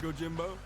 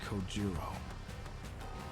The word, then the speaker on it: Kojiro: The way he deliberately mispronounces my name really bothers me. Bothers me so much that the anger boiling inside gives me the strength to open my mouth. It's Kojiro.